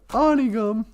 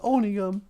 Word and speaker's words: Onigum: community of onigum whereas people in walker butcher the language call it onigum but it's owning them and uh we put